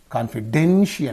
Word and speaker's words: confidential: So confidential because this is a suffix and the syllable preceding the suffix. So here confidential.